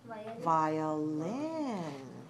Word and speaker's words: violin: woman playing the uh watch me violin beautiful violin three syllables stress the third and in the second